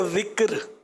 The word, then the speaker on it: ذکر: ذکر درست ہے یا ذکر؟ اصل لفظ جو ہے وہ ذکر ہے.